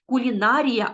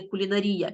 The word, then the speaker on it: кулінарія: і правильно наголошування слів Наприклад ми кажемо кулінарія а не кулінарія піцерія а не піцерія